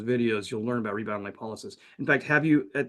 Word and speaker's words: lipolysis: And in fact, in the first video, I was pronouncing it rebound lipolysis, which is another way of saying the word, but more people are using the lipolysis.